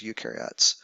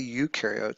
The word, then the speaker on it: eukaryote: ribosomes but only the ukar are the ones that have membranebound organel so big difference between the two if you think about it U rhymes with do and pro rhymes with no so the ones on